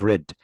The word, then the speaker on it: read: read يقرا، read قرأ. تنطق مثل اللون الاحمر بالظبط read.